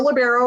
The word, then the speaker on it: libero: Tonight's presenters, we're going to be learning about back row attacks by the libero. Or libero or LeBron, as we realized, is also an alternate pronunciation for some.